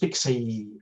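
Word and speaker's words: PKCE: it's it's it's here pkc pronounced pixie uh it's basically and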